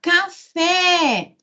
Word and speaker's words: café: Se eu falar café, é uma oxítona.